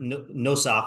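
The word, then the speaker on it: נוסח: what we say like nusach hatfila. So our YouTube commenter friend, who knows more Hebrew than I do, said the word nosach, which is actually the way that it's supposed to be pronounced, right?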